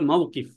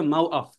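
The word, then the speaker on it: موقف: মাসজিদ মিশরে মাসজিদ বলে মিশরে হচ্ছে জিমকে বলে গাইন জিমকে ওরা গাইন উচ্চারণ করে আবার কফকে হামজা উচ্চারণ করে যেমন মাওকিফ মাওকিফ অর্থ হচ্ছে আপনার বাস স্ট্যান্ড আছে এটাকে বলে মাউকিফ কিন্তু মিশরী আরবিতে বলবে মাওফ আপনি যদি বিশুদ্ধ আরবিটা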